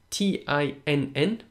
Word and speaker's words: tinn: Now, in the word tin, Tinn, or tin, it's a slender sound.